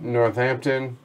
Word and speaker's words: Northampton: came prepared tony says you don't pronounce the d in northampton that would be the